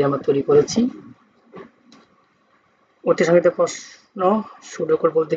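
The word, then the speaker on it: pseudo code: কোডের সংজ্ঞা পি এস ইউ ডি ইউ এটা উচ্চারণ হবে না সুডো কোড বাংলায় বলা হয় সুডো কোড উচ্চারণটা সুডো কোড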